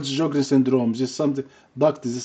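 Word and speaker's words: Sjögren: S is silent. Sjogren. Like George, Sjogren.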